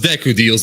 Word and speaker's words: Deku Deals: It's pronounced Deku Deals, but yes.